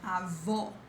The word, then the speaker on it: avó: Then we have this avô, avô, against avó, avó. Whenever you see this accent mark, which looks like a hat, you have the close sound.